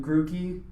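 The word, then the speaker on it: Grookey: to fire and then grew key I believe it's pronounced goo because there's two O's you're grouchy mmm guru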